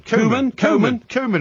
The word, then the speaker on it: Koeman: his name tonight then kman is how you pronounce it k e m a n spells kman okay does it spells kman he's Dutch Ronald kman okay Ronald kman